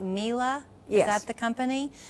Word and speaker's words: Miele: Okay, now you have a long-standing allegiance with, am I saying it right, Miele?